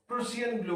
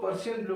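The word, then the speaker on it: Prussian blue: इसको टर्नबुल्स ब्लू बोलते हैं और इसको प्रूसियन ब्लू बोलते हैं। ठीक है, टर्नबुल्स ब्लू, इसको प्रूसियन ब्लू, सब कुछ लोग पर्शियन ब्लू भी बोल देते हैं। प्रूसियन ब्लू is right way to pronounce in fact.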